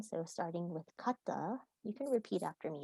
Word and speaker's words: kata: And I'm going to run through this list for pronunciation. So starting with kata, you can repeat after me if you'd like. So kata, kata, ki, ki, ki-ai, or kakegoe.